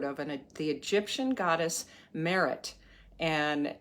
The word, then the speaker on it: Meret: I'd never heard of and the Egyptian goddess Merit and it's spelled either m-e-r-e-t or m-e-r-i-t and I'd never